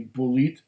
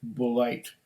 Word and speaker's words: Bulleit: how to pronounce it would it be bulit bourbon i know that there are german-speaking people who would see that and they would pronounce it polite right away and i've seen it